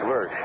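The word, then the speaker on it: Lersch: 24 years old name is spelled l e r s c H Lurch Barry Lurch facing Ken Henderson hting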